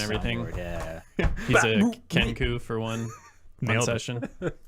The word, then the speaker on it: Kenku: He's a Kenku for one Nailed it.